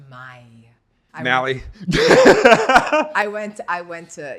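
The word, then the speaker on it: Maille: the one I use French it's it pronounced my mie I went I went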